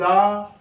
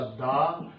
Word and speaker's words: the: Vowel हो तो दी और कॉन्सोनेंट हो तो द।